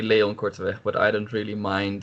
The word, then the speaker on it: Korteweg: So what's the right pronunciation? Well, we would say Leon Korteweg, but I don't really mind the pronunciation all that too much.